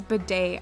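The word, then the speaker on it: Bede: to probably against bidet i'm just gonna pronounce it as bidet i know it's not the day it's like beat or whatever but it's a bidet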